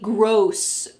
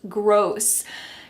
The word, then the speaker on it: gross: is to gross out make sure that you pronounce this word correctly gross gross you could say I was